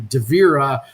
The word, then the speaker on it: Davira: so I ended up changing the middle vowel sound there to davira just because of that